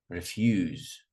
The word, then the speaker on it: refuse: Refuse. Refuse. Not refuse. Refuse. Regret.